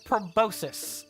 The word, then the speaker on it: proboscis: called proboscis and getting incensed when people say proboscis. Like it's a fake word. A freaking fake word. And now, recently, within the past 2 months, 3 months, I've learned that it's a real pronunciation and that both are equivalent.